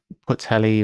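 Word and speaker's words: Pwllheli: Pronounced 𝘤𝘳𝘺. Puthelly or Puthelly.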